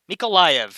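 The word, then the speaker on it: Mykolaiv: this way is easier meek mikulia mikolaiv mikalayev mikolayev yes that is better yes yes that works that works well mikolaith that's a that's a good way to pronounce it yes conor asks nemeco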